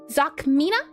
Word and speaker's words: Zokmina: Is it Zokmina? Is that how you say it? Yes, indeedy.